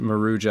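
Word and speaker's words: Maruja: This is also featuring Marua. it it's pronounced Marua.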